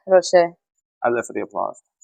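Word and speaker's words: Roché: R-O-C-H-E. And a little accent on the E. Yeah. Is it Rocher? Yeah, Rocher.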